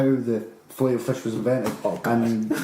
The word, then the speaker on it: Filet-O-Fish: McDonald's Filet-O-Fish, or is it fillet-o-fish? I don't eat I believe it's pronounced filet-o-fish. Filet-O-Fish, alright. I was told that it's fillet, but it's French call it filet, because that's their language.